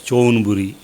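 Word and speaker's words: ชลบุรี: Javanapur, it is called as Chonburi.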